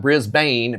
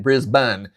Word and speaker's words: Brisbane: Chris corrected me on the pronunciation of not Brisbane, Brisbane.